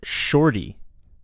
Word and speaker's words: Shorty: Is your Coruscant Underworld Police Chief APGAINS, Conquest Omicron, new character, new droid, Shorty is how you pronounce it.